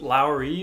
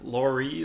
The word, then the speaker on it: Lauri: No, is it Lowry or Laurie? Like I hear it different ways. So I do like him. I think is it's it like Lowry. Kyle Lowry?